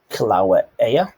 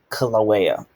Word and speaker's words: Kilauea: Kilauea, I guess is how you pronounce that. A volcano erupted in Hawaii. Kilauea.